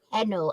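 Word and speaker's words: Henle: which human body organ is the loop of Hennel and the it's spelled h-e-n-l-e henna oh no I know I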